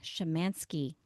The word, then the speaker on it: Szymanski: I can't wait for you guys to meet my new friend, Shamanski.